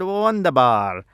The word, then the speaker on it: wunderbar: I'm guessing the songwriter was just trying to make sure it could rhyme with Tsar. Instead of saying wonderful, they said wunderbar because it rhymes with Tsar.